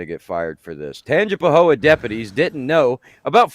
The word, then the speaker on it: Tangipahoa: No, because I don't want you to mispronounce the name of the town. I want you to get it right. Tangipahoa? Close. Tangipahoa deputies didn't know.